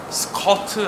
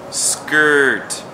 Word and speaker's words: skirt: 치마라는 의미 가지고 있는 스트 그리고 그것도 중요한 것은 스쿼트 아니죠. 발음을 살려야 돼요. skirt skirt skirt so스ct하고 많이 다르죠. Skirt.